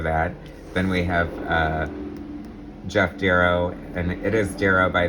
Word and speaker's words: Darrow: So full of details, and it is pronounced Darrow. That's why he does his little signature with a D and then an arrow.